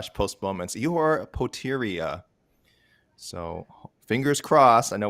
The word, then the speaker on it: Ihor Poteria: $204, the official weight for Ihor Poteria. 204. Ihor Poteria. Thank you, John Anik, on the pronunciation on that one for sure.